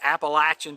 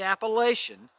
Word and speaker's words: Appalachian: call it there's two different pronunciations but the pronunciation that is now been resolved it is officially called the appalachian trail not the appalachian if you were through hiking the appalachian then